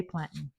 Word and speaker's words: plantain: die for the way that they say it. To me, it doesn't really matter, but I do say plantin. That's how I say it. So, maybe in the comments, you can let me know how you say it in your country.